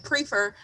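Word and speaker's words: Priefer: So not Pfeiffer, I mean Prefer. Wait, what? Prefer, correct? That's how you pronounce it last time. Prefer, yes.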